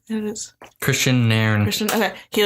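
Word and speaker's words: Kristian Nairn: It is Christian Nairn.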